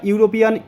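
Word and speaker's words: European: এখানে দেখো বন্ধুরা ইউরোপিয়ান ই দিয়ে শুরু হয়েছে, অর্থাৎ ভাওয়েল দিয়ে শুরু হয়েছে, কিন্তু আমরা এখানে অ্যান বসাতে পারবো না। কারণ কি, এখানে দেখো ই এর উচ্চারণ শুরুতেই হয়েছে ইউ।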